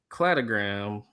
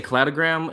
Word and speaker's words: cladogram: So this is my website, but the cladogram. I always say cladogram, and then someone told me it's cladogram because it's clades, But I just call it cladogram.